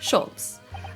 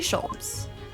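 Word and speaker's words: Sholmes: one and only oh i see your german was it no no i have no her i mean i have hair please call me scholes oh is it pronounced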